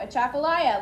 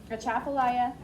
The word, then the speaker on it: Atchafalaya: They went canoeing in a huge Use the pronunciation key. There you go. Atchafalaya. Let's everybody, or finish that sentence. Atchafalaya.